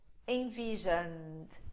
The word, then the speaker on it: envisioned: Envision, envisioned. Pronúncia, o E é quase silencioso.